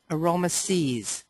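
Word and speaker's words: Aroma Siez: wonderful blend of oils Aroma sees that's how you pronounce that and here's panaway I'd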